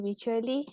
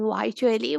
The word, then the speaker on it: Wycherley: I am pronouncing it as William Wycherley, and then I'm pronouncing it as William Wycherley. Well, both are correct.